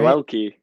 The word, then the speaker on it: Yoelki: I knew how to pronounce that. Yoelki, right? Yoelki.